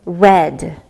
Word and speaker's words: read: Read has the same spelling in the past tense, but the sound changes, so it becomes read.